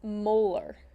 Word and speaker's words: molar: of your solution okay the units for molarity are capital m okay and that's pronounced molar so if i have a